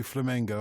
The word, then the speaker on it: Flamengo: and by the way I've been corrected in my pronunciation of course it should be Flamengo I want to know